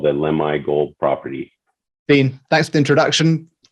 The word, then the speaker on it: Lemhi: How did you pronounce it? Lemhi or Lemhi? Lemhi, yeah.